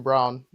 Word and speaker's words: Braun: The only three consistent players for the Nuggets this year have been Jokic, obviously, Christian Brown, which is spelled like Braun, and Mm, Aaron Gordon when he's healthy.